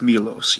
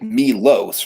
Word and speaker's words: Milos: but I know it's Milos. Yes, it's just Milos, right? Just Milos. Like there's no H in there.